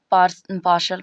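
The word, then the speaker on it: partial: अब देखिए पार्शल, पार्शल होता है, पार्शियल लोग बोलते हैं। अब नहीं मालूम रहेगा तो पार्टियल कोई अर्थ निकालेगा, इसका प्रोनाउंसिएशन करेगा, तो पार्सल होता है, क्या होता है, बड़ा सर।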